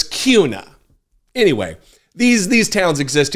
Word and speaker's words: Kuna: which by the way is not Boise it's pronounced boisey and it looks like kuna but it's Cuna anyway these these towns exist everywhere I don't